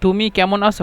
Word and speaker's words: তুমি কেমন আছো: يعني لو أنتم مش تقدر تنطق يعني بكلام دي تومي كمون أسو هكذا، تقدر تكتب بهذا أو تقدر تنطق بهذا.